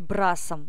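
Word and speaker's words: брасс: плавать брасом вот смотрите брас - это французское слово но с не читается на конце слово я это говорила уже в правилах чтения и мы просто произносим ра ра то есть с не произносим ра Угу дальше рост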